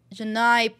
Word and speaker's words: Janai: doing here Janai okay so it is Janai I was worried I got her name wrong yet I promise you